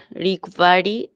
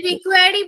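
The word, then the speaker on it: require: help you ইফ you have any questions or রিকোয়ারি any further information আবার তুমি রিকোয়ারি বললে কেন এই উচ্চারণটা সঠিক উচ্চারণটা করো একবার রিকোয়ার রিকোয়ার এনি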